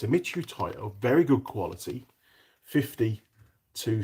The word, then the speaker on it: Mitutoyo: Uh this is I can never pronounce the name. I don't know why I should be able to. Mitutoyo. There you go. It's a Mitutoyo.